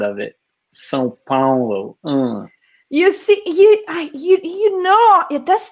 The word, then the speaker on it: São Paulo: it's more of an awe though, Paulo. like Sao Paulo, Paulo. like ow, like not wow, like yeah. The first one is São. The second one is not São Paulo.